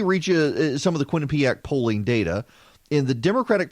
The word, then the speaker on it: Quinnipiac: Kwin, Quinn, P-E-A-P ACK, ACK, Quinnipiac, the Quinnipiac University National Poll.